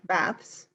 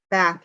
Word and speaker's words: bath: in America we take baths and we take showers and um we use that bath sound not bath okay so you're sort